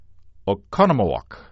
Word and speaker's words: Oconomowoc: I live in Oconomowoc."